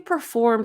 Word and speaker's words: performed: was commendable good and notice that perform ends with a M sound so we're going to use the D not perform formed performed